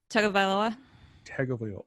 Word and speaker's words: Tagovailoa: Pronounce the last name one more time, please. Tagovailoa.